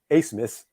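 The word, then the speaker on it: Abmas: 15 attempts he took 11 threes So Max acemus and it's the last name is spelled a b m a s but it's pronounced asmus he had he's a guard six foot guard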